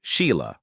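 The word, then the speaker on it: Sighle: James Lancaster, Susan Lancaster, Joanna Lancaster, who went on to work as a film producer, and Sigel, pronounced Sheila Lancaster.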